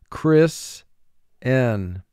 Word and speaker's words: christen: baby after the service chris n two syllables first syllable chris four sounds n two sounds e n chris n mark the word chris n notice t has a wave sign under it because it's silent in this word it has no sound value but you must have a t to spell this word correctly monarchy monarchy the head